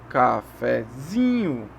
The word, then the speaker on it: cafezinho: Depois do que a tônica aqui é o zin, a sílaba zin. E o fé é a subtônica. Então vai fazer uma escadinha. Como a primeira sílaba é átona, a gente faz uma subidinha. Então é cafezinho.